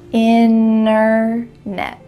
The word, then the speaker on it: internet: What's happening to that middle T? Internet. You can say internet with a clear T if you're speaking a little bit slower, but when native speakers are speaking quickly, we're going to cut out that T completely and just say internet. Innet.